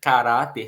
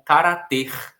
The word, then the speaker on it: caráter: Caráter tem uma terminação em R. Se não tivesse o acento no A, a nossa tendência seria achar que caráter seria lido como carater, como se fosse um verbo, né?